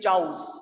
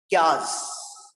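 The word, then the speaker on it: chaos: Pronounce करते हैं अपा क्यास, के आस, चाउस नहीं है वो, क्यास है ना, क्यास कंफ्यूजन, जिसे मैं चाउस कह रहा था वो चाउस नहीं है, प्रोनाउंसिएशन उसकी क्यास।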